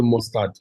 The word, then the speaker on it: Mustard: Actually, mustard, just like the mustard seed.